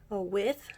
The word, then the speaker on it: WE:TH: I'm doing an unboxing of Pentagon's 10th mini album, With. It's actually pronounced with, not with. I'm really glad it's pronounced like that because with sounds really weird.